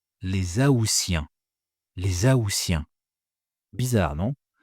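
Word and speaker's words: aoûtiens: Les aousiens. Les aousiens. Bizarre, non ? Bizarre parce que le mois d'août, on prononce le T, mais les AOiens, on prononce S.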